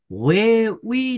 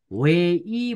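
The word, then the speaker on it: 회의: अब हामीले वे उही नभनेर वे ई भन्ने, वे ई भनेको बैठक, मिटिङ भन्न खोजेको है, बैठक भनेको मिटिङ।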